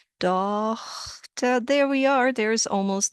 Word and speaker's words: Tochter: But if you were to pronounce the GH as a H, Tochter, there we are.